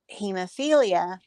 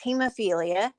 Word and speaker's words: hemophilia: you tried to pronounce hemophilia that made me think oh he's not saying it right it's hemophilia I knew what hemophilia was